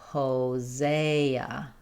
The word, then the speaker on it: Hosea: In Hosea, letter S says the Z sound and we have the letter E says A. The final A says uh. So, Hosa.